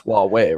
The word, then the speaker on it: Huawei: time time no one even knew how to pronounce their name now everyone knows wuwei right so I feel like their name is